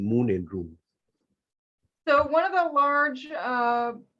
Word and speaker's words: Moon and Rune: So Mira, your business is called Moon and Rune. Did I pronounce it correctly?